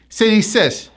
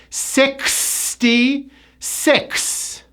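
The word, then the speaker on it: sixty-six: Now you have to remember that the X is pronounced with a KS sound. Many pronunciation workshop clients would say, sis, but it's not clear. You need the K sound. 66.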